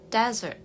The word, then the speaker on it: desert: Untuk yang kedua yang di bawah ini, meskipun katanya tulisannya mirip ya, tapi beda pengucapannya. Desert. Desert. Desert. Kalau yang di atas tadi kan dessert atau dessert. Yang di bawah ini desert. Desert. Untuk Americannya desert.